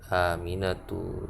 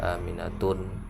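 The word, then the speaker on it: آمنة: Aminatu, Zainabu, nggak boleh baca Aminatun, salah. Zainabun, salah Zainabun, tapi Zainabu. Fatimatu, bacanya diperhatikan panjang pendek.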